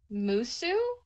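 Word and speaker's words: Mosuo: I have actually been looking into the, I think it's pronounced Musu in China.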